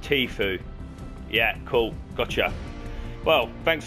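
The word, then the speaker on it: Tfue: favorite streamers yeah what what you mean it's pronounced tea food and what did I say tofu oh yeah tofu sack disgusting stuff vegetarians eating it right yeah and the stream is called tea food yeah cool gotcha well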